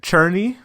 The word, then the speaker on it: Cherney: The footage that you're seeing of Connor Culp kicking is it Cherney? Is how you actually pronounce it. That's her name, Cherney, Daniel Cherney, doing cool punts, right?